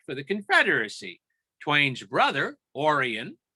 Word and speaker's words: Orion: the confederacy twain's brother orion pronounced orion was a sympathizer for